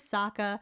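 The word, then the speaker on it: Sokka: that he he's literally like my name is saka it arrives with an akka so like why did they mispronounce his name in the movie that muslapi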